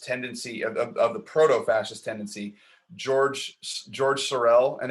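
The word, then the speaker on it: Georges: of the proto-fascist tendency, George Sorel, and it's spelled where it's George. It looks like George's, but it's Yeah.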